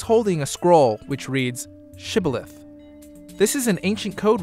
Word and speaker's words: Shibboleth: They said unto him, Then say Shibboleth. And he said Sibboleth, for he could not frame to pronounce it right.